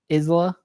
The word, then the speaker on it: Isla: Yeah, I've always heard Just 'cause Isla. there's that weird S. Isla Fisher.